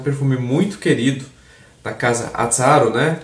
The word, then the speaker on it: Azzaro: Tem gente que fala Azzaro, mas eu acredito que a pronúncia mais correta seja Azzaro, né? Que é um nome, aparenta ser um nome italiano, né? Tem uns dois Zs aí e tal.